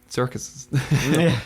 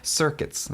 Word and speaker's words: circuits: There was some sex workers, they were also part of circuits, which, not circuses, circuits. Yes. Pronounce that better.